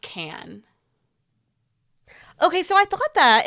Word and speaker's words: Cannes: It is pronounced Can.